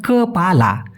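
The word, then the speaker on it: kepala: বলা হয় কলা কপালা অনেকে বলে কপালা না ভাই সঠিক উচ্চারণ কপালা মানে মাথা মগজ বা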